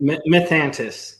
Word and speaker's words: Mithantis: Uh, from uh Steph, uh, Into the Valley, how did you build pronounce it because I can't pronounce it. Methantis.